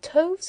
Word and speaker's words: toves: The I in slithy is long as in writhe, and toves is pronounced so as to rhyme with groves.